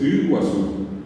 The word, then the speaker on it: Iguazú: Va a decir Isiri, ¿verdad? O Iguazú. O quedó Foje Iguazú por eso, Iguazú. Es Iguazú. Bueno, ¿cómo se salva la situación? Y ejercicio de pronunciación. Repetir, y va a llegar un momento que va a salir perfectamente la U.